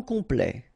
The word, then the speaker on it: complet: Okay, here a T at the end will open it. The sound of the E.